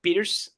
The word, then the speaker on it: Pires: you did it it's it's Portuguese it's beaters but then I would